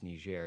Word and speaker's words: Niger: And he wasn't like saying it like as the N-word, and then someone was like, Trump, it's pronounced Niger.